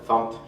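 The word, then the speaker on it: fmt: We pronounce it font, short for format.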